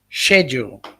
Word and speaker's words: schedule: papa is saying he's ridiculed for not using the k sound in schedule papa the correct pronunciation is schedule not that other one where it got that letter k i don't know schedule um yes michael and